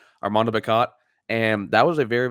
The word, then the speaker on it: Armando Bacot: whole entire lesson how to pronounce his name, Armando Bacot.